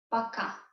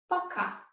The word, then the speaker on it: пока: And this is пока. Пока.